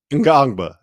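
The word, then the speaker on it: Ngongba: Ngangba.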